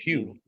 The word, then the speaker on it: Pugh: Or Pug. Pew, Is it Pugh? That's how you Pew, pronounce it. yeah, Pew.